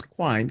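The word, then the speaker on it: Quinn: the description I love the characterization I love Quin it's pronounced as Quin q u i n n that again I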